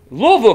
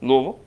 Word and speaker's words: Louisville: Louisville, Kentucky. Great pronunciation there, Louisville. Louisville. Not Louisville.